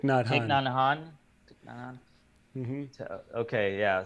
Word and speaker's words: Thich Nhat Hanh: Thich Nhat Hanh. Thich Nhat Hanh.